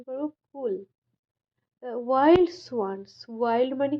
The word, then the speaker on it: Coole: এটাকে আমরা সি ডব্লিউ এল ই এটাকে আমরা উচ্চারণ করবো কুল ওয়াইল্ড সোয়ানস ওয়াইল্ড মানে কি বর্ণ সোয়ানস মানে